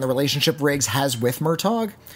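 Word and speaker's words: Murtaugh: than it is about Murtagh and the relationship Riggs has with Murtagh it's just Murtagh you don't pronounce the G it's gh it's a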